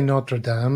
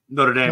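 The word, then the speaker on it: Notre Dame: we're going to DC you can't say notra Dam that's too correct a pronunciation oh really Andy what are you supposed to say d not Dame not Dame there you go you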